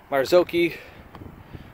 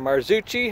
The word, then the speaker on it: Marzocchi: So up front I have a Marzocchi, or Marzucchi, however you want to pronounce it.